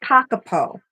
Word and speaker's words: kakapo: pronounced kakapo.